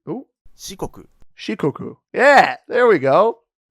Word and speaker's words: Shikoku: Shikoku, I think the if I remember correctly, the Japanese I sound is pronounced like E, unless obviously it comes after an A like this, like Hokkaido, Kansai.